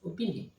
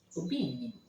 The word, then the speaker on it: Obinim: also can be pronounced Obinim. Nobody knows who I am. What she's saying is that the same word has two different meanings depending on how you stress. So if you pronounce it Obinim or Obinim, it has two different meanings.